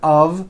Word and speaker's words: of: speakers make this mistake even though the word of is spelled with an F we pronounce the word of with a voiced V I know this sounds